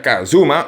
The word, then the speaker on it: kZm: Por ejemplo, habló con KZM, que en realidad se pronuncia Kazuma, uno de los nombres más relevantes en la Gentown Crew, y sacaron juntos el Crime en 2017.